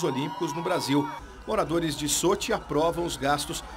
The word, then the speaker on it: Sochi: para pessoal paraas redações eh eh sugere a pronúncia como Soti comoesse o e a gente no nosso Russo castiço dizia sochi tá bom desculpem caros telespectadores soi examente soosi